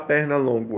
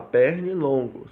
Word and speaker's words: pernilongo: E também na pronúncia, porque eu não vou falar perna longo, eu vou falar pernilongo, certo?